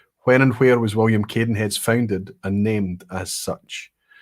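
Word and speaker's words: Cadenhead's: Caden heads in 1842 or as it C Caden heads was founded in 1842 in CBL town and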